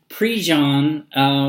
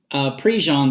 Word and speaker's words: Prejean: name it spelled like Prejean Prejean PRT JEA in but you know kind of southern Louisiana kind of French I guess pronunciations of a lot of